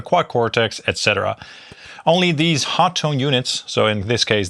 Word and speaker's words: Hotone: So, Hotton Tone makes some really cool stuff and yes, it is pronounced Hot Tone indeed.